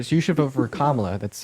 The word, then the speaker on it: Kamala: Sure, so you should vote for Kamala. That's how you pronounce her name.